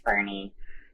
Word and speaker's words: Boerne: country and they're like how do you say the name I'm like it's Bernie so there's even a